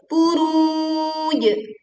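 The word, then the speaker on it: البروج: Buruj, buruj. Panjangkan dulu ru sebanyak bisa 2, 4 ataupun 6 harokat. Lalu kemudian kita berwakof di jim sukun dengan memantulkan suaranya dengan kuat. Was-sama'i dzatil buruj wal yaumil, wal tekan lam sukun, yaumi.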